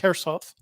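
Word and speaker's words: Kherson: the russians surround herself it looks like k-e-k-h-e-r it's pronounced herself um the ukraines hit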